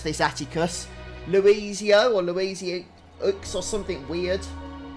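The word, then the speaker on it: Louisoix: I keep forgetting how to pronounce this, Atticus, Luizio or Luizio or something weird like that. I'm sure somebody in chat will be able to spell it out for me. Louis-Soir.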